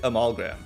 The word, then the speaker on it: amalgam: I always want to like hit the front really hard, but I think the A is kind of by itself. I think it's like A is a syllable, then everything else is like, not a syllable, but like, I think it's a schwa, to be clear. I think it's like amalgam.